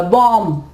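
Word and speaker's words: bomb: इसके अलावा कॉम, कंघी को कहते हो आप कॉम, कॉम्ब नहीं कहेंगे, बी जो है वो यहाँ पे साइलेंट होगा। बॉम्ब, बॉम्ब नहीं कहेंगे, बॉम्ब नहीं कहेंगे हम इसको, हम कहेंगे बॉम्ब।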